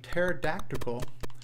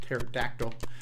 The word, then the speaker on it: pterodactyl: you down and then there was also a teracle I know I always pronounce that word wrong it's pronounced pterodactyl but there's a pterodactyl you know one of those dinosaur birds one